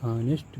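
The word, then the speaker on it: honest: एस टी ऑनेस्ट मैन अब इसका उच्चारण निकालेंगे तो ऑनेस्ट मैन ऑनेस्ट मैन अब आ चुकि क्या है वोवेल है वोवेल के पहले हमको जब उच्चारण में वोवेल आ रहा है तो हमको क्या इन ऑनेस्ट अब जबकि एच क्या था? एच कंसोनेंट है लेकिन एच ओ एन एस टी यानी एन के उच्चारण जिसका जो हो रहा है वो प्रोनंसिएशन जो हो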